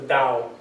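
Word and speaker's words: Tao: The yin and the yang, which is expressed by the dao, it's spelled with a t, but it's pronounced the dao. The dao is the way.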